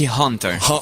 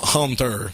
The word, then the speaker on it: Haunter: Donc, le film s'appelle, j'ai toujours de la misère à bien prononcer, le film s'appelle Haunter, comme le hanteur. Ok, Hunter. Haunter.